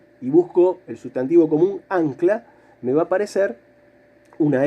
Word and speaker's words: ancla: más fuerte a ver cómo suena la palabra ancla o anclar a ver para a duch la mano la sílaba tónica la sílaba fuerte es la primera ángulo entonces voy a